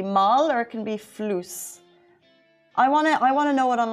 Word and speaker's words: floos: Floos. Floos. Okay, floos. Can you spell that for me, please? F L O O S. F L O O S, like floss, but spelled floos.